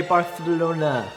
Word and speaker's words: Barcelona: Barcelona, or as the locals say, Barcelona.